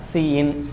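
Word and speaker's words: cin: ப்ரொனவுன்ஸ்டு ஆஸ் சிஇன்.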